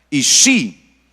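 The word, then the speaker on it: אישי: tú me llamarás Ishi, porque esa es la pronunciación correcta, Ishi, y no me llamarás Baali, me llamarás Ishi, no Baali.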